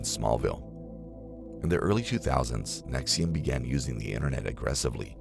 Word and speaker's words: NXIVM: NXIVM, pronounced NXIVM, started in the late 1990s as self-improvement group offering courses known as Executive Success Programs.